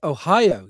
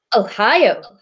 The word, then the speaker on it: Ohio: is pronounced it's pronounced ohio you're meant to go up in the middle ohio i was once chatting